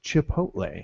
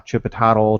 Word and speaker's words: Chipotle: ch ch there how's the lady at worksh she says uh Chipotle I'm like just read the word it's chip hotle yeah there's a Taco Bell commercial that's like uh chip a todle chip chip no the